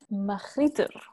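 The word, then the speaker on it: magrittr: Magriter, because it has a French accent apparently to it.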